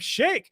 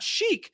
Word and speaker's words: sheikh: some arab arab sheikh and they're saying it wrong like this must be chic some arab shake he would have made